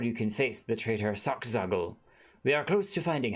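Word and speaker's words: Solkzagyl: I think it's pronounced Sockzaggle. Sockzaggle. Sockzaggle. Okay, that's right. It's S-O-L. And then K. Sockzaggle.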